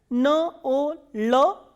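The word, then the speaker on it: ноль: N, O, L and soft sign. Nol. Nol is 0.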